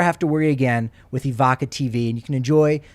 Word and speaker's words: Evoca: to worry again with Evoca TV. And you can enjoy the Nuggets and Avalanche once again. That's the solution. I'm going right now. EVOCA. See, I got to spell it right. Like evocative, yeah.